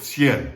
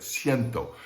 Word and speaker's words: cien: the larger numbers okay we left off with sienn cien is four letters c-i-e-n and it is